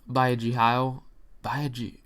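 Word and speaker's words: Baijiahao: So the Baijiao publishers' accounts reached 3 million. That's how you pronounce it. Don't you dare tell me it's not.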